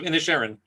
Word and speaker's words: Inisherin: The Banshees of Inisherin. Thank you. I'm sure I butchered it earlier.